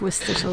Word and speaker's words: Worcestershire: It's one of those things that people act like it's hard to pronounce. It's very, very easy to pronounce. You just need to remember that it's nothing like it's spelled. You just need to ignore at least half of the letters.